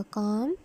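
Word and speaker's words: calm: Black, blue, bold, brave, brief, bright, broad, काम, इधर L silent होगा, काम, कामर, कामिस्ट, cheap, clean, clear, clever, close, course, cold, cool, cruel, dark, dear, deep, dim, डल, dumb.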